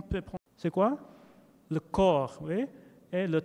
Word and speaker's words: corps: Le corps, oui. Et le temps. So we don't pronounce the PS here.